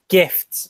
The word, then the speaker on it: GIF: We should clarify gifts with a T, not gifts like GIF. Internet. That's the right way to say it.